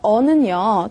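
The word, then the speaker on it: an: 언이라고 읽겠죠. 그죠? 자, 어와 언이라고 하는 게 부정관사입니다. 그럼 이 부정관사 어와 언은요, 똑같은 역할을 하게 되는데, 일단 뜻이 있어요.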